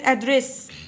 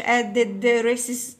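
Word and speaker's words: address: طيب هنا ادريس يعني عنوان، وكلمة ادريس الدي انطقها مرة واحدة والاس برضو انطقها مرة واحدة، خلاص يعني ما اقولش ادد ريسس، لا غلط.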